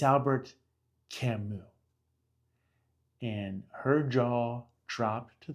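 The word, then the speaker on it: Camus: For those of you who don't know, I said to her, just so you know, his name is pronounced Camu. It's Albert Camu.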